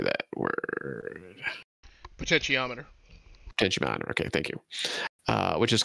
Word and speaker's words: potentiometer: Potentiometer.